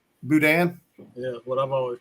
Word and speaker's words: boudin: like brad's saying it boudin boudin yeah what i've always pronounced yeah you gotta leave the end though you gotta leave the end off the end is silent through that what is